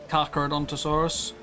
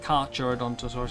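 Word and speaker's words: Carcharodontosaurus: Kakarodonttosaurus. It's not It's not Kurodonttosaurus. It's kaka and for you know great white shark it's kakarodon.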